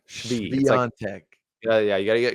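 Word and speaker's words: Świątek: You got Coco Gauff on the hard court, although Swiatek kind of has Coco Gauff's number.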